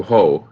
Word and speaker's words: Hoc: was the point do ho it's called spelled hoc hoc but pronounced oh I think so here's